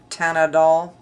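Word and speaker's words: Teint Idole: She pronounced it Tanadol, and Ultra 24 Hour, and this comes in 18 shades, and it's listed as a full coverage foundation, and it's $44.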